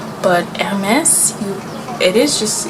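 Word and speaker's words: Hermès: at the end because generally in French for the most part you don't pronounce the S at the end of a word but MS it is just it's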